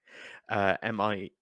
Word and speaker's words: Mir: Yeah, I'm gonna just MIR, I think it's spelled. Nightmare of the Wolf, isn't it? Yeah. It is Studio Mir or Mer.